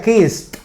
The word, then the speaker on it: kissed: Kiss. Ese sonido es un sonido sordo, ¿ok? Kiss. Por lo tanto, aquí se pronunciaría kissed, al final con T, ¿ok?